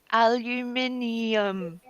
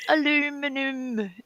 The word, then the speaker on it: aluminium: tinfoil hat factories mama we say it properly aluminium we put in all the letters yeah all of them you steal letters from that lovely word to come up with aluminum no it's not aluminum it's aluminium well